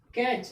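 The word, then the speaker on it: catch: CH के पहले टी आ गया, टी क्या हो गया? साइलेंट हो गया, तो क्या बच गया? CACH, कैच।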